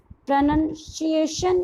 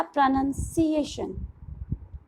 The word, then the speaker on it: pronunciation: आप क्या पढ़ेंगे इस वर्ड को, प्रोनाउंसिएशन या प्रोनाउंसिएशन? Here the sound of C will be S, not sh.